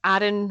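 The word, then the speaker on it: Aron: the true story of Adan or Eden depending on how you pronounce it Ralston who was a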